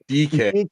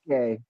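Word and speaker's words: Dike: Shame Dyke. It's actually pronounced DK. DK.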